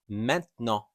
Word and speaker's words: maintenant: We will most likely pronounce it like menno.